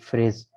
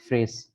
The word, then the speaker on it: phrase: ठीक है, ये इसको इंग्लिश में फ्रेज कहते हैं, PHRASE, फ्रेज। ठीक है, PH की आवाज़ फे की निकलेगी, और RASE, रेस, फ्रेज।